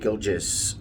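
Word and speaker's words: Gilgeous: the video which was the way that I pronounced uh Shake gilis Alexander I for some reason thought that the G was silent see I told you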